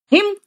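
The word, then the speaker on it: hymn: हिम, हिम है बेटा, N silent है, और हिम मतलब मंत्र, जो हिंदी वर्ड है वो इंग्लिश में भी यूज करते हैं।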